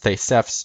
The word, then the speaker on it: Theseus: The words Theseus and Aspis, or in Greek it'd be pronounced Thesefs and Aspis, an asp, Aspis being an asp, which is a snake, it's a poisonous snake, are similar.